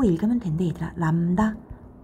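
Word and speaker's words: λ: 요게 람다라고 읽으면 된대 얘들아. 람다.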